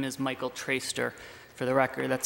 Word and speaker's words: Traister: My name is Michael Traister. For the record, that's spelled T-R-A-I-S-T-E-R, and I'm a lawyer in Portland with the firm Murray, Plum & Murray.